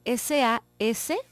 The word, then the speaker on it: Sascha: Sascha se escribe S-A-S-C-H-A, Sascha, como se oye.